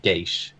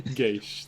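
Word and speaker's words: geas: you if you'd like you can go with the the more traditional pronunciation of geish but okay geish then what is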